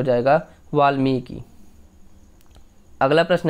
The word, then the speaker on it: वाल्मीकि: जैसे वाल्मीकि, महर्षि वाल्मीकि ने रामायण लिखी, तो हम बोल रहे हैं वाल्मीकि, यानी म पे बड़ी की मात्रा लग रही है और क पे छोटी की मात्रा लग रही है।